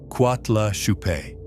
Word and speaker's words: Coatlaxope: a phonetically very similar phrase, Coatlaxope, pronounced Cuatla Chupe.